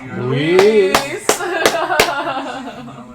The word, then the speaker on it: Luis: Very good, Louise. Luis.